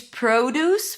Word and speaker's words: produce: So the first syllable is awah. P. Second syllable is stressed. Deuce. That's that primary stress with an oo as in food.